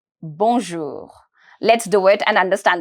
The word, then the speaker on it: bonjour: here bour bour o you is to be pronounced as o simple o bour my R is going to be very very mild it's going to be very light towards the end the pronunciation is not going to be too harsh but I'm trying to pronounce it from my throat here B bonjour bonjour bonjour